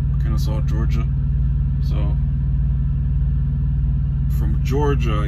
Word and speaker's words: Kennesaw: then we're gonna head to i think it's pronounced kennesaw kennesaw georgia so from georgia i guess i'll get